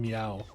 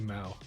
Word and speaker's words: MAO: I sort of God I've said your name as I'm I'm meow before but you're actually a MAO I'm a MAO I